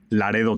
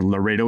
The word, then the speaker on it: Laredo: border crossing which is Laredo Texas or Laredo if you want my Hispanic pronunciation or American one uh and so we